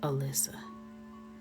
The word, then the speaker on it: Elisa: Her name was spelled Elisa, but she pronounced it Alyssa.